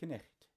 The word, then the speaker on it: knecht: They're there because in Middle English, that's what M-E stands for, it was pronounced Knecht.